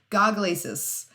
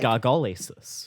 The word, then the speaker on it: gargalesis: Or when I first saw the word visually, I was like... Gargolesis. Oh, Gargalesis. Gargalesis. Gargalesis. But no, I watched a couple of videos and they all pronounced it gargalesis. So that's what we're going to go with.